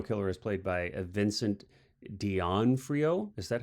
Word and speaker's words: D'Onofrio: The serial killer is played by Vincent D'Onofrio. Is that how I always get that? Is that you pronounce it? D'Onofrio.